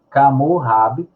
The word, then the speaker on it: Hammurabi: Portanto, 18 séculos antes de Cristo, e nascido em Babel, Camurrab, que é a pronúncia em babilônico, foi fundador do primeiro Império Babilônico, correspondente ao atual Iraque, né?